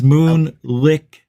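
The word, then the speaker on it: Moonlicked: on my show too moonlitch moon I I don't know if I've pronounced your name right mate it's Moon licked Stuart Little told me how to pronounce it I need to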